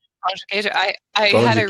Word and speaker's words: pão de queijo: I think like, obviously I can understand it, but the pronunciation of certain letters is different. Like the D is a J, right? Yeah, Like pão de queijo. Pão de queijo.